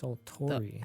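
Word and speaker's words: desultory: It's sulttori.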